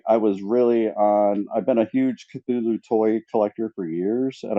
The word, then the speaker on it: Cthulhu: How do you pronounce it then, Eva? Cthulhu.